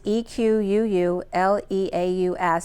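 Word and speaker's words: Equuleus: It's Equuuleaus, which sounds French, which is considered the little horse or foal.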